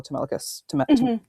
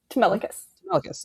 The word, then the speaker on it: Telemachus: Where in the scene, there's like the guys who are scheming and sent to kill Telemachus. Telemachus. I said it right the first time. Okay. Yes, Telemachus.